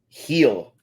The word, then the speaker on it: Gil: Or are we calling him Gil? Heel.